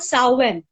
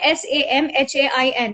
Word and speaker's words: Samhain: It's called Samhain. It's spelled as S-A. Yeah, it's called S-A-M-H-A-I-N.